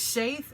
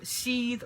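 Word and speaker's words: seiðr: It's pronounced Saith, Seethe, or Seether. It's a Norse form of shamanism.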